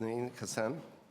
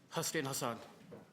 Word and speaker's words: Hassan Hassan: show any questions thank you for your participation okay as nanine Kazan I mispronounced your name please forgive me Hassan Hassan please go ahead three